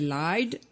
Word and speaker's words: lied: Donc c'est lied Et et le lied. Pareil. lied, Donc voilà. c'est un verbe régulier. Et la prononciation, on l'a déjà vu dans le podcast, ne massacre pas le ED.